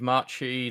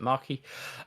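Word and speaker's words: Macchi: that the obviously that that big machi that big maki depending on your pronunciation. My Italian friends would tell me I really should pronounce it maki.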